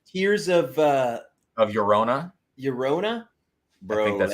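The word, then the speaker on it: Llorona: like that stuff tears of uh of yorona yorona bro that's how you say it yeah i'm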